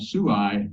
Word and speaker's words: Suai: And finally, in terms of the colonies, here's a stamp from Timor that was sent in 1970 from a small village called Suai, it's spelled S-U-A-I, to Connecticut.